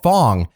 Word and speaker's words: Fang: hot mess oh they're hot mess they're called Fong yes that is how they're pronounced though later on the tribe will be like can we be called fang we don't like the word Fong so it's